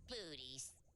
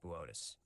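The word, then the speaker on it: Boötes: Booties. Boötis. It says booties on the teleprompter. It's pronounced Boötis.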